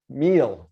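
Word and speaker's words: mille: thousand views and that m stands for melee meal i looked it up and then i forgot how to pronounce it which i believe is french 4 000. if you don't see french pop up a lot in online advertising but meal there we go thank you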